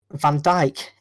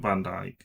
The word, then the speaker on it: van Dijk: And then came the Van Dijk incident. His lackluster touch. Hold on. It isn't Van Dijk. You've got to say his name properly.